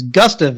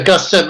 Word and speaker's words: Gustave: So it is Gustave and not Gustave, huh? Yeah, Gustave, I think it can be pronounced either way.